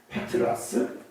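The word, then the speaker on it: πέτρα: 이거는 벌써 남성 명사하고 여성 명사 벌써 차이 나고 발음의 차이가 나요. 비슷하긴 하지만 페트라스, 페트라. 그러니까 벌써 발음이 비슷하긴 하지만 벌써 음절이 차이가 나죠.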